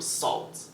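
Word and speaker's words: Sault: a lot of her discography is also from Salt okay and it's spelled s a u l t you oh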